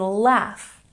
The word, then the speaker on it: laugh: And laugh. Isn't this a funny word? We have GH at the end, but it makes the F sound.